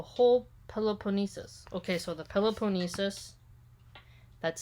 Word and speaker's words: Peloponnesus: embraced almost the whole peloponnesus okay so the peloponnesis that's spelled p-e-l-o-p-o-n-n-e-s-u-s macedon saw its progress but was